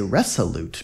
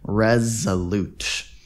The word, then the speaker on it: resolute: the story was Resolute it looks like we say Resolute because of this s but actually it's pronounced with a z Resolute it means admirably purposeful